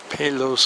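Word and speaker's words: Peleș: heading towards palo's castle here even though it's spelled with two e's they put an o in it somehow so it's got 160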